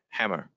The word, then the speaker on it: Hamer: So congratulations to, I don't want to get her name wrong, Lisa Hamer. Did I say that right? Visa? Hammer. Yeah. Yeah.